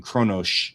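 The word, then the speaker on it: Qo'noS: which is interesting because Kronos is pronounced Kronosh with an SH, and Kalis is pronounced Kalesh with an SH. Klingon tends to not have the trailing S. It tends to have an SH.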